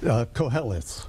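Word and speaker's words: Qoheleth: Koheleth.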